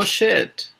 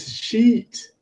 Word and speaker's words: sheet: No shit. Pardon? I haven't got a shit of paper. Oh, you mean sheet. It's pronounced sheet. Sheet. Yes, good. Everybody say after me, sheet. Sheet.